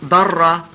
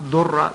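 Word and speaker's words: ضرة: Now, obviously, the word in Arabic for second wife is darra, sometimes mispronounced durra, but it's actually a darra.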